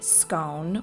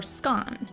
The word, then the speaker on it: scone: us if you say scone or scone, because in Britain, it's pronounced both ways. So, do you pronounce it scone as in rhymes with bone or scone as in rhymes with gone?